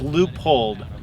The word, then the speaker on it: Leupold: guess let's start by saying how do you pronounce the name of the company so it's loopholed like if you would say you know le